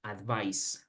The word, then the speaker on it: advice: Pero entonces, otra vez, advice con C se pronuncia así, advice, advice, sin mucha complejidad.